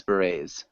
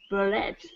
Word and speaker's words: beret: Head sides, berets. Head, sides, barrett. Yeah, it's a beret.